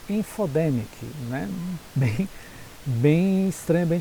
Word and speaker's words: infodemic: feio para a gente a pronúncia infodema info the mic né nem bem estranha